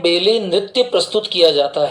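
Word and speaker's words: ballet: A double L ईटी इसमें T silent होता है ना in Russia they perform बैले बी A double L ई टी T silence रहेगा बैले बोला जाएगा स्पेन में फ्लेमेंको नृत्य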